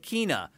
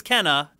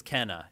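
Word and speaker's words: Kena: uhuh in the trailer Sony called it Kina and the developers are like no it's Kenna so everyone was saying it right all along Sony just confused people whenever they said it wrong in that phrase I thought that was the other way around because I've always said Kina no that's incorrect it's Kenna is the correct way to say it but anyway um so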